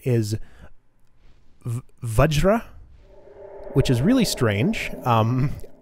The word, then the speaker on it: Vajra: I looked it up apparently the actual pronoun pronunciation is vajra which is really strange um I don't like